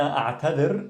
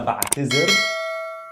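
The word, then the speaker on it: أعتذر: So ana a'tadir is how you pronounce it in MSA, Modern Standard Arabic. In dialect, ana ba'tizir, and this works for masculine and feminine.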